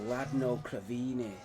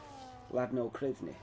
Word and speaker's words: Ladno Krivni: And how do you say the last bit? Krivini. Krivni. Ladno Krivni.